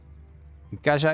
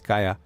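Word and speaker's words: Caja: Kaja is one of the. Oh, sorry, it's not Kaja. It's Kaya.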